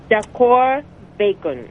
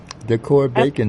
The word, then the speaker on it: DACOR Bacon: And then I am going to the place called, my I asked the AI, and then AI says pronunciation of this place is Decor Bacon. Mm-hmm. Decor Bacon House, right.